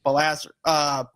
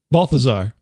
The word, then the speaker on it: Balthazar: killed by a half-breed demon named Balazar. Say his name? Balthazar.